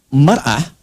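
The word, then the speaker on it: مرأة: Ya, kalimatnya sama, cuma cara bacanya beda. Al-mar'atu kal mir'ah. Yang satu pakai fathah, yang satu pakai kasrah.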